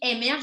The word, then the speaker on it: Emerge: Là, on dit Emerge en anglais, mais il y a aussi émerge en français. Là, les bons Français de ce monde voudront le prononcer comme ils le veulent.